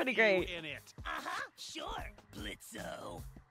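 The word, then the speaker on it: Blitzø: in it uhhuh sure blitzo the O is silent now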